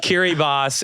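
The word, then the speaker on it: Kiribati: it okay cbati see that's that's one it's pronounced kir boss it's a Pacific island nation pronounce it damn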